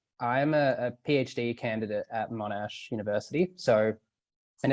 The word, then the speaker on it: Monash: read your bio on uh at was it monash university is that how you say it yep